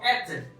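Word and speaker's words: êtes: तो एथ, इसको बोलेंगे हम एथ, एस प्रोनाउंस नहीं होगा, जैसे मैंने बताया था कि लास्ट शब्द प्रोनाउंस नहीं होता।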